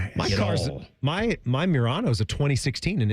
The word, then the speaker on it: Murano: You going to get You're going to give me crap over how I pronounce a Nissan SUV? Murano. Like there's some proper way to say it.